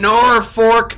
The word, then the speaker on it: Norfolk: in Norfolk, Nebraska. It's pronounced Norfolk, if you didn't know that.